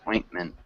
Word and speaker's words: ointment: And it's pronounced ointment. And with this word, we actually we can say it kind of swallowing both of the T's.